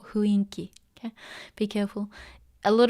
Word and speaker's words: 雰囲気: ダークな雰囲気。Be careful, it's not 雰囲気, it's 雰囲気。Some people mispronounce it, but the actual pronunciation is 雰囲気. Okay, it's not 雰囲気. Okay, be careful. A lot of natives say 雰囲気, but it's not the right pronunciation.